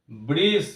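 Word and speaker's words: bridge: আসছি বাট ডি এখানে উচ্চারিত হচ্ছে না D silent বাজেট ব্রিজ বি আর আই ডি জি ব্রিজ অর্থাৎ কোথাও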